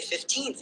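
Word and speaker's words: fifteenth: In your example, when you say 15th in isolation, the stress naturally falls on the second syllable 15th.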